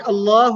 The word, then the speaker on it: Allah: the word Allah Allah here the word Allah will be pronounced in a light manner why because there is